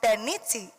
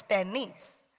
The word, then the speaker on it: Bernice: And my name is not Berniti, it's Bernice.